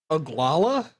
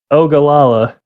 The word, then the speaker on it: Ogallala: What is this one? Oglala? Ogallala. Ogallala. Okay, I'm I not.